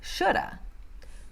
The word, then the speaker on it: should have: que vocês estão ouvindo, porque muitas vezes você não vai ouvir should have, could have, would have. Fica mais should have ou shoulda, could have ou coulda, or would have, woulda, ok?